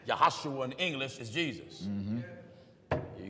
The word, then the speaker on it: Joshua: Minister Joshua me that there's no J's in the Hebrew language Joshua is pronounced yahoshua that's right yahoshua in English is Jesus